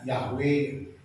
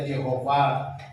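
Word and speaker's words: Yahweh: Wau w he y he w he dibacanya yahwe. Kadang ada yang baca Yehova, ada yang Yehua. Orang Batak bacanya Jahubah.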